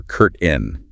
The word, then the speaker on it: curtain: Maybe a shower curtain. Remember those two pronunciations? Curtain or curt in.